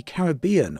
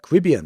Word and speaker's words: Caribbean: January, and it features the Caribbean, or the Caribbean, depending on where you live and how you pronounce that.